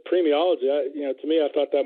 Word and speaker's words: paremiology: And you have also been elected to the International Association of Paremiology.